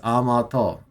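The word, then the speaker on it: 甘党: Amato. Okay. Yeah, it is Amato. It is pronounced how I thought.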